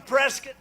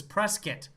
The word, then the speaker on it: Prescott: hope i stand corrected apparently there are some locals that absolutely insist that their town's name is prescott not prescott and i've never a